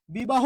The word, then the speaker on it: বিবাহ: তাহলে একটু আপনারাই বলুন বিবাহ কি হবে বি বা হো শেষে কি আছে হ আছে ওই জন্য কি হইলো ও হইলো আচ্ছা তাহলে আপনারা কি খুব